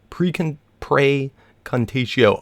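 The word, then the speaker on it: Praecantatio: you guys' comments telling me, Precontatio, I believe, Precontatio.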